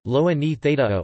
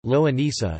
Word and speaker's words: longaniza: Longaniza, Spanish pronunciation, loa ni theta o, or American Spanish, loa nisa, is a Spanish sausage embutido similar to a chorizo and also closely associated with the Portuguese linguiça.